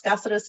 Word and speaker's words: Cazares: me how to pronounce gaseous Kelly um I like to tell people and I used to teach my students this grew up in a casa on the res um Casa on the